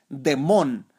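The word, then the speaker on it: δαίμων: Así se escribe daimón, aunque su pronunciación por ahí es demón.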